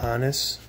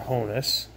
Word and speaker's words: Honus: Hannes or Honus. I've heard it pronounced both ways.